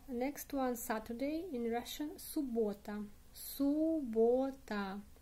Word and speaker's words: суббота: The next one, Saturday in Russian, суббота. Суббота. Stress on the o. Суббота. Суббота. In this case, in spelling, we have two letters b. Суббота, but pronounce only one.